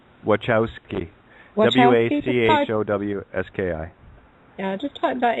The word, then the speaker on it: Wachowski: and youtube lana workout how do you say that mikowski wachowski w-a-c-h-o-w-s-k-i yeah just type